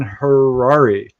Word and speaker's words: Harary: If you haven't figured it out, our guest tonight is the amazing Dan Harrari. Rhymes with Ferrari. So, that's how you can remember it.